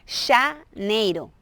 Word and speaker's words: janeiro: La pronunciación con J es como con che, no sé si, janeiro, janeiro, es igual que dices ya, o sea, como que ya ¿está bien?